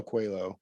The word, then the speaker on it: Coelho: reorganizing it and that became the it's it's pronounced qu quo Medallion it's spelled Coelho um but it's named for Paulo quo the the writer of the author of the